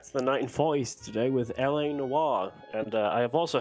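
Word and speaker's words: L.A. Noire: I'm going to introduce to you running LA Noir. That is how you say that name, that word. I heard it pronounced something weirdly the other day by somebody not in this event, but something weird.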